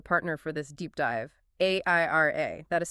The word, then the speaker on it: AIRIA: Which is exactly why we need to talk about our partner for this deep dive, AIRA. That is spelled A-I-R-I-A.